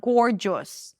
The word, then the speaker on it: gorgeous: Just not gorgeous. Oh, someone was just asking about this word. Gorgeous. Gore or as in four and then a J sound and an s.